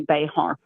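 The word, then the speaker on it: Bexar: So, tell everyone about Bear County. It's it's spelled how? B X A R. So, if you were Spanish, it would be Bayhart.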